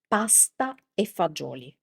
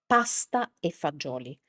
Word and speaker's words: pasta e fagioli: So, that in Italian is pasta e fagioli classical combination of Italian cuisine. pasta e fagioli Here we have the dropping of the of the final vowel of pasta and also the the G of fagioli turned into a Z, but actually this is